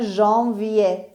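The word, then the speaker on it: janvier: انگلیسی ها میگن جانیوری ولی فرانسوی ها دقیقا میگن ژانویه و ما این رو از فرانسه گرفتیم و میگیم ژانویه.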